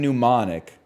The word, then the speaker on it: mnemonic: Gnome and mnemonic have the silent letter at the start. Okay, same with knee.